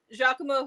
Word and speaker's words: Giacomo: And the way his name is spelled, I know it's Giacomo, but I always want to call him Giacomo.